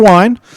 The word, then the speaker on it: Wayne: If I can just revert to our good friend, his name, when he pronounces it, is Wine. We call him Wayne. He says that my name is Wine.